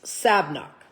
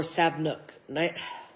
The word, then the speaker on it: Sabnock: Marquise Sabnock. Or Sabnook. Could be Sabnook. I didn't put my little line for how to pronounce the O, so I apologize.